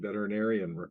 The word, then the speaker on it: veterinarian: to compliment you on saying veterinarian correctly uh at least the first time that's one of the hardest words to say because it has six syllables so if you ever want to most people say veterinarian or doc they can't remember